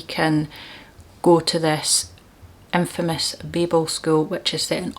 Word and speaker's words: Babel: Then, a book I have actually read, and it is Babel or Babel. People pronounce it different ways. I pronounce it Babel because it's based on the Tower of Babel in the Bible, so that's what I go with.